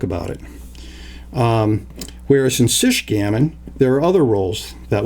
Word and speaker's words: Sichgammon: or nauseated so please pronounce the ch as you would in the word checker making it sich gammon or as you would in chicago or michigan or schuette which would make it sish gammon now between those two